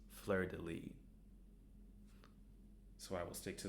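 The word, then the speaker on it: Fleurdelis: in the show, but it turns out by looking up the pronunciation it is flirtilly.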